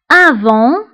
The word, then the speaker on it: avant: avant qabla avant qabla فبالنسبه لافون كنكتبوها بالتي في اخر الكلمه ولكن لا ننطقها avant qabla aujourd'hui aujourd'hui